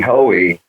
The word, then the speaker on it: Hoey: How do you pronounce his last name again? Sorry. Hoey. Hoey.